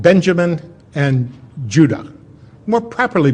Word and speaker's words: Judah: were called Benjamin and Judah more properly pronounced anounced UDA because we didn't get the harder sound to the J until about 200 years ago so this is what